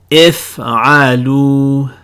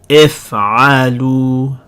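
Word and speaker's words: افعلوا: This alif at the end with a 0 over it, that's a silent letter. We're going to have another separate chapter for silent letters. But for right now, just make a mental note that this is a silent letter. It's grayed out. We don't pronounce it at all.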